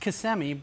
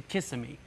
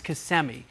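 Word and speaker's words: Kissimmee: uh central part of the State uh it's pronounced CMI but if if you're a tourist you say kissm they don't know but it's kmii and they got a lot of ranches and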